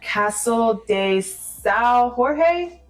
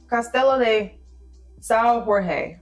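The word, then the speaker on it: Castelo de São Jorge: So number four is discovering castle de sa Jorge Castello de Sao Jorge is I think how you say it.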